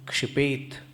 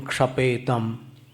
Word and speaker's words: क्षिपेत: पुष्पांजलिं क्षिपेत ये पद है, और पुष्पांजलिं क्षपेतम ऐसा उच्चारण करते। तो क्षपेतम कहाँ से बना है भगवान जाने, कौन से व्याकरण से। क्षिपेत शब्द होता है।